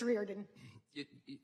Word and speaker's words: Riordan: Riordan, am I pronouncing that right? What's the right pronunciation? Thank you. It's Riordan.